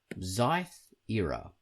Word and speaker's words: Xythera: The comic he has chosen to make the music for is called Xyth Era. Xyth Era. It's spelled Xythera.